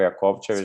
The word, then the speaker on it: Jakovčević: This CC we are pronouncing always Ch, so this is confusing a bit. So I'm Ognjen Sviličić, Jakovčević.